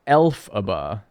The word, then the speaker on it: Elphaba: It's pronounced Elphaba.